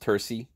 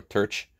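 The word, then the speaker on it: terce: The mid-morning, I believe it's pronounced terci or terch.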